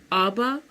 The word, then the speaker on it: Abba: Abba, I said, 아바라고 부르잖아. 근데 신기한 게 이 나라에서는 아빠, 우리가 아빠라고 부르는 그 daddy 있잖아. dad, 아빠. 아빠를 똑같이 발음이 똑같대요. 아빠 이렇게 부른대요.